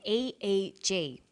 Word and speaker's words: EEG: whether it's an abbreviation or an acronym an EEG brain scan helps answer that say the Swinburne researchers he says an EEG that's an abbreviation we don't pronounce it eeeek we say aeg aeg stands